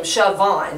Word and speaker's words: Siobhan: the last part of my name, Siobhan, it's spelled with a B, but it goes with a V in the Irish way, that it sounded like